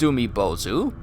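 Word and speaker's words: Umibōzu: Pronounced Umibozu, a large and very strange-looking yokai that inhabits ocean waters.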